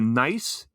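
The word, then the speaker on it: NiceHCK: Like one of these is called it's the Nice HCK, and that's all one word, DB3 earphones. And I pronounce it nice.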